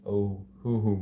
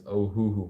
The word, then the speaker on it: Ohuhu: These are the infamous Ohuhu markers. At first I was pronouncing them Ohu markers. But now I realized that the name is Ohuhu markers.